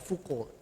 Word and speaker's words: Foucault: Mikhail Foucault, tulisannya Foucault, bacanya gimana? Foucault.